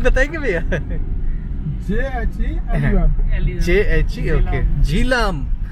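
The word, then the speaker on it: Jhelum: रहे हो ये रिवर जालिम नहीं जालिम। मैंने सोचा ये कैसा नाम है, जालिम रिवर। जालिम स्पेलिंग बताएंगे भैया? JHE। ओके, झीलम। हमारे उधर बोलते हैं झीलम।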